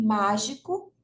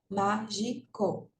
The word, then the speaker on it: mágico: slide a sílaba tônica então de mágico é ma né ó Mágico mágico três sílabas né ó última penúltima antepenúltima último Então nesse caso a